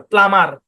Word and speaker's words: plumber: নাম, THUMB থাম, CLIMB claim, PLUMB প্লাম, PLUMBER প্লামার, NUMBER নাম্বার। এভাবে একটা ভয়েসে কি করবেন, পুরা ইয়াটা দিয়ে দিবেন, মানে বানান করতে হবে।